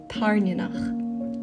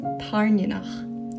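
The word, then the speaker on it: Tairneanach: I am a Scottish Gaelic speaker and this is how you actually pronounce them. I'll start with the big one. Violet's dragon is called Tarnionach. Tarnionach.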